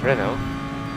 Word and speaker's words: Renault: Sorry, you pronounce it Renault.